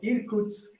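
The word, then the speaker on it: Irkutsk: audience so Ilya you are a physicist from irkut's State University do I say it correctly yeah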